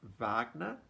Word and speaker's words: Wagner: thing beethoven mozart um and the guy today wagner yes he does start with w but you pronounce it wagner um so that's why it's under w so he lived from 1813 to 1883.